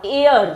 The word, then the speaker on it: heir: ये वर्ड आया है HEIR, एयर से, इसमें H साइलेंट होता है बोलने में, यानी वारिस।